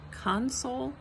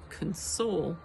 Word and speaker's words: console: console me okay so console emphasized on the first syllable is the noun console emphasized on the second syllable is the verb and those are important